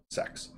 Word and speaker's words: sex: is 60 degrees and the latin number 6 is pronounced sex that's how it comes